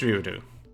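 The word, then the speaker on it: Ryudo: you do are you it is ryodu yeah okay uh the w is basically the tier is supposed to kind of prolong as you're pronouncing the u and we have a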